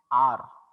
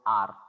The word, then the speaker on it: hour: यामध्ये काय होतं बघा, H हे सायलेंट राहतं. H सायलेंट का राहतं? That it is not pronounced. आपण hour नाही म्हणायचं. Remember, we have to pronounce it an R.